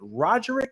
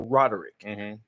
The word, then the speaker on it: Roderick: my mom I asked my mom is it rogerick or Roderick because I've heard two people pronounce it that way I know two Rodricks